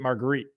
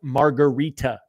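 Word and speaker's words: Margherita: I pronounced it marguerite up top, like mozzarella, marguerite pizza. Down here, it's margarita pizza. I'm like, a margarita is a drink, not a pizza.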